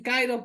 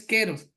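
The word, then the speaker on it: καιρός: Dicen cairos, pero la correcta pronunciación es queros.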